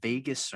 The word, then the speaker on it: vagus: So basically, when you breathe, there's something called the vagus nerve. Shout out to Vegas. Yeah. Is that really what it's Spelled called?